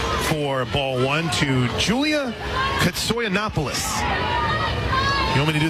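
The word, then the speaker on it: Koutsoyanopulos: ball one two Julia katsoy Annapolis you want me to do the hair and carry yes please k-o-u-t-s-o-y-a-n-o-p-u-l-o-s sounds exactly like it's spelled ish right soy Annapolis catcher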